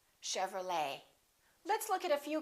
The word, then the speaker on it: Chevrolet: valet and one more Chevrolet we don't say Chevrolet Chevrolet let's look at a few cases where the